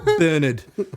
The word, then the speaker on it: Bernard: It's like 3 R's and you guys are like, none of them. Bernard. There's no R in that pronunciation.